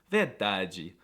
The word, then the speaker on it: verdade: However, the cutest noises by far that come out of Brazilians is the way that they pronounce the DE at the end of words, like in onde, verdade, saúde, GGG.